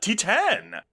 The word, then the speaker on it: Titane: now's followup to Raw see previous episode uh T10 which that is how it's pronounced I remember when this was coming out